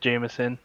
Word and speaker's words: JMSN: uh kind of uh the artist we're listening to is jmsn or jameson um pronounced jameson uh he's an rnb